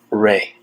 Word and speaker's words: Rei: And it's actually pronounced Rei.